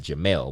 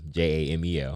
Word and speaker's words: Jamel: Yeah, and my parents they called it Jamel, which would be a E, J-A-M-E-L.